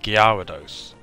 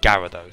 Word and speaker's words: Gyarados: Which apparently is meant to be the proper pronunciation. You're actually meant to pronounce it Gyarados. But many people just call it Gyarados, so...